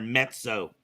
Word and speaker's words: mezzo: and yeah we get mezzo's name wrong all the time or I just call him naz a lot too it's there's like a silent T in their mezzo it's like pizza but so yeah no it's